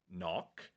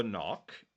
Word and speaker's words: knock: is a silent letter for example knock if you pronounce k knock you're wrong uh because the K is silent right and there's a